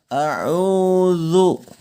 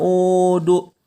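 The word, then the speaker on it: أعوذ: masuk ke huruf dza huruf dza ini bukan huruf Dal ya tapi huruf dza Wook bukan au.au do ya melainkan harus zuk Coba anda bisa Sebutkan lafalkan kata zat a'udzu bukan aha uduk dimana pengucapan huruf dza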